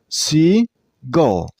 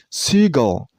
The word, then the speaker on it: seagull: This name has also 2 syllables, Seagull. And use a stress on the first syllable. I mean on C.